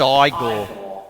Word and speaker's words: Igor: oh oh oh oh no it's pronounced I go oh hello everyone how